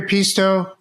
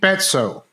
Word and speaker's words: Peetso: So, Pisto, sorry, am I pronouncing your name right? I mean, yeah, it's a difficult one. So, in Estonian, you pronounce it p, but in English like pizza is fine.